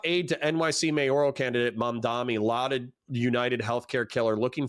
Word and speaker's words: Mamdani: I can pronounce it. Mamdani. Mamdani.